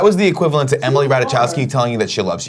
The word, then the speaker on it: Ratajkowski: That was the equivalent to Emily Ratajkowski telling you that she loves you.